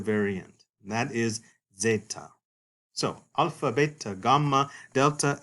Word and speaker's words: zeta: The next letter, which looks like a Z, is the letter zeta. Zeta. And zeta is originally pronounced in Classical and Koine Greek like a DZ sort of sound.